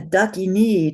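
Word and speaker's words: ḍākinī: And a dakini, and notice that I exaggerate, and I would invite all of you to really exaggerate the long vowels as we learn them. A dakini, does anybody know what that is?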